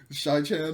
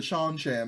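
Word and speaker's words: Seanchan: have if you know shai chan over here with the kim's woman maybe like they're working the sean chan not shy i've been saying it wrong forever the sean chan like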